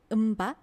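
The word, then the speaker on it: mbak: 그 다음에 젊은 여성을 부를 때는 음바 이렇게 이 음바에서 뒤에 까도 살짝 묵음으로 음바 이런 식으로 사용합니다.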